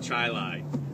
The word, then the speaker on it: Chili: a town spelled exactly the same it's called chili my gps is not aware of this not